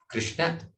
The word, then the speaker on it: Krishna: When the na is elongated, it is female. Krishna, the shortened, is male.